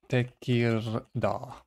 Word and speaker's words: Tekirdağ: Edirne, Kırklareli, and Tekirdağ. G is silent.